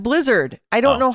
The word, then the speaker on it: Blizzard: There is no S on the end of Blizzard. I don't know how many times we have to say this, but people, it's there is Blizzard.